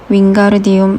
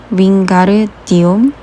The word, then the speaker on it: 윙가르디움: 윙가르디움 레비오사 론이 긴 팔을 풍차처럼 휘두르며 소리쳤다. 주문이 틀렸잖아. 헤르미언느가 쏘아붙이는 소리가 들렸다. 윙가르디움 르비오사야 가르를 제대로 길게 발음해야지.